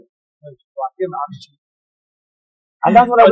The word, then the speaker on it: Joachim: It's originally from like German, Joachim. Right. But we speak English, so we say Joachim.